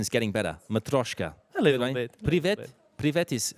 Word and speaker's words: matryoshka: guys before the break we were talking about matroyshkas my pronunciation is getting better matryoshka it pretty VIP Lee vetti's hello it's better